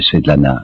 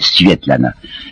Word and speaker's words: Svetlana: Je crois que c'est une manie russe de donner des diminutifs, alors elle s'appelait, il faut prononcer paraît-il, Svetlana.